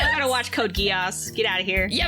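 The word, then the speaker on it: geas: make yeah guos that's is it geese g e a s block of geese no guos okay that's how it's pronounced okay she is going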